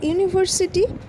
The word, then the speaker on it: university: known that is a university our European in those cases the vowel is not sounds like a vowel it sounds like I had pronounced like a consonant so a will be